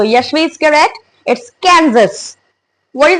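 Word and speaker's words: Kansas: guys it's कैंस so Yashvi is correct it's कैजस what is the next one guys a Arkan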